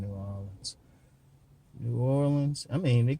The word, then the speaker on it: New Orleans: Oh, let me pronounce this so everybody else understand. New Orleans. I was pronouncing like they would in New Orleans.